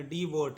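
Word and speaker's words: devote: ठीक है, इसको पढ़ेंगे डी बोट, इसको पढ़ेंगे डी बोट। ई का उच्चारण नहीं करेंगे क्योंकि ये लास्ट में और उसके एक अक्षर पहले ओ है।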